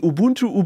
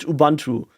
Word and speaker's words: Ubuntu: got used to pronouncing Ubuntu Ubuntu because it's it's very similar to to how you pronounce it in German in German you would